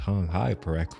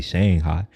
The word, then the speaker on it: Shanghai: I hear people pronounce Shanghai correctly. They say Shanghai when it's actually Shanghai. And she like, I could tell that she was using the tongue.